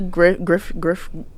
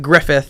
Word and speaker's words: Griffith: Anyways, I went to the Griff. Damn. I got you. The Griffith Observatory. It's pronounced Griffith. She went Griff.